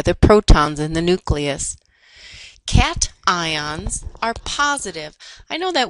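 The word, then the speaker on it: cation: Cat ions are positive. I know that word looks like cash, but it's pronounced cat ion.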